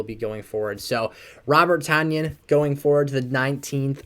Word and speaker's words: Tonyan: Bay Packers names wrong I always say Romeo uh dubs instead of Dobbs Robert tanyon like onion instead of Tanya um I guess I